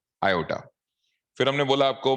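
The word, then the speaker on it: iota: इसी को Euler uncle ने बोला कि आप इसे आई ले लो, आई for imaginary unit, pronounce as, very good, आयोटा, pronounce as आयोटा।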